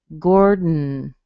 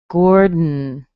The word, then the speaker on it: Gordon: You notice I don't lift my tongue off. If I did, I would say Gordon, dun, dun. So that happens because I hit my tongue behind my teeth for the D. I pull it back a tiny bit, and then I hit it again to make the N.